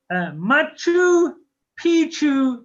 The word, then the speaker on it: Machu Picchu: Okay, next, guys, is pronounced Machu Picchu in Peru.